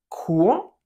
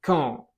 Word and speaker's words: quand: Cuidado, podrás notar que no suena la U de quand, no se dice quand, se dice quand, ¿ok?